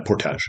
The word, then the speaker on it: portage: Uh portage. Yeah, portage. Yeah, portage is actually how it's pronounced.